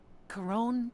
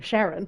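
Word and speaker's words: Charon: all and after that I've been pronouncing his name wrong during all Spirit fair enough to get out of that I've been saying Sharon ladies chased after me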